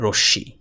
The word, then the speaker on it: রশ্মি: অনেকে এই যে রশি এটার নাম রশমি উচ্চারণ করে। এই উচ্চারণটা ভুল। এটা হচ্ছে রশি প্লি প্রিয় বন্ধুরা এখন